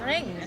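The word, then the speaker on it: Ringu: Ring.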